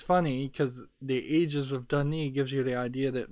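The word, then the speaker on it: D'ni: are many ages of Dani almost pronounces it like dunny is this floating society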